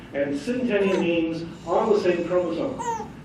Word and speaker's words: synteny: Primary evidence for the fusion is synteny. Okay, synteny, I get to teach you a new word.